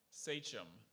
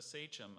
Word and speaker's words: sachem: Sachem. Sorry? Sachem. It's the leader of a political party. Sachem. Not my party. What's the origin? The sentence actually might help you here. Okay. William Tweed was a sachem of the political organization known as Tammany Hall.